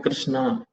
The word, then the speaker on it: कृष्ण: क्योंकि कई लोग हरे कृष्णा हरे राम ऐसे बोलते हैं, जबकि हरे कृष्ण हरे राम है, नॉट रामा। That's right.